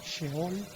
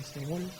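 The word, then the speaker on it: שאול: En hebreo se pronuncia Sheol, pero ya castellanizado la gente les dice Seol.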